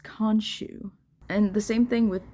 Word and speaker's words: Khonshu: Both names start with a KH, but they don't really pronounce the K like they do in the first 2 books. They just pronounce it as an H.